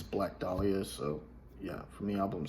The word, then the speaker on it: Black Dahlia: is black dahlia now for the longest time i pronounced it delilah because i i thought you know but i don't know i don't know why i did that but it's black dahlia so yeah from the